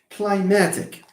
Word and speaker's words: climatic: have it here yeah how many syllables are there three because climatic okay climatic so you have a syllable here another one here and this one here let me apply the rule this is the ultimate this is the PIN ultimate stress Falls here it's climatic it's not clim do you say